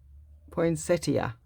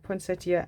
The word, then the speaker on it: poinsettia: what the flowers are i can't say it poinsettia oh i used to always say the name wrong and i remember people used to tell me that's not how you say it anyway poinsettia and paul anchor thank you very much yes